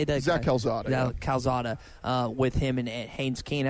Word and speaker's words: Calzada: was going to be and yeah is it callazar how do you say that exactly calzada with him and haynes keene i think a